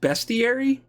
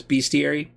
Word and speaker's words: bestiary: I bought the, I believe it's pronounced bestiary. The bestiary has all the beasts in it. I keep mispronouncing it as bestiary, but I have since learned it is a bestiary, and that's actually a